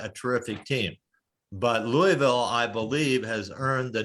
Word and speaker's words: Louisville: Louisville. Oh, I We're didn't sorry. look. That's Louisville, that's the way Yeah. you pronounce That's the it.